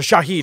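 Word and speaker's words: Shahid: sell the Jaguars or Shad would have to sell the Jaguars or Shaheed excuse me to get his name pronounced correctly I want to say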